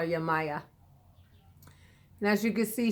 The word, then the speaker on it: Yemaya: Maya this is Yemaya a lot of people and now pronounce her name yeah my yah I call her yeah Maya and as you can